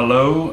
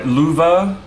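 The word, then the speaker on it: Löwe: yeah sure I'll do my low or my louva I think is how the Germans pronounce it I keep getting comments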